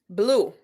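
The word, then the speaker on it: blew: Blue. Very good. Okay. So it's spelled B-L-E-W, and the pronunciation is like the color blue.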